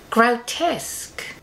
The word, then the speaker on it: grotesque: Grotesque? Oh, Enid, it is. It's no exaggeration. No, but you see, the thing is, it's pronounced grotesque.